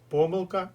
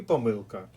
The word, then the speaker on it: помилка: в рядку Нагадую що слово помилка має подвійний наголос помилка і помилка Отож ми маємо чотири